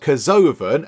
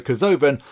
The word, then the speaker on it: Kerzoven: We've got Kerzoven, and that's how we're going to pronounce it. We're sticking with that, so Kerzoven, and then Veltime.